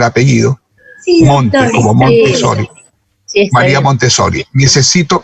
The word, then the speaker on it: Montessori: anterior que tuvo María Montessori, mírenme si estoy pronunciando bien el apellido, Sí, Monte, doctor. como Montessori.